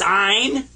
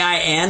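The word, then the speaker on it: عين: is a in a you kind of squeeze the back of your throat when you pronounce this one and I I was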